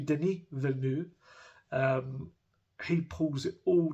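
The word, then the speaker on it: Villeneuve: screen um but yeah Denise Vu again I looked up how to pronounce that because it was such a strange one he actually think I think he pronounces it Deni so maybe Deni venu um he pulls it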